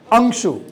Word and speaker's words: Angshu: I'll pronounce, check if I'm right. Angshu, right?